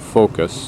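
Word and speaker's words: Phocas: the column of focus here's the column of focus that's spelled p-h-o-c-a-s and it's the last the forum's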